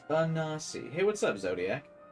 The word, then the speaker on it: Anansi: He's pronounced Anasi.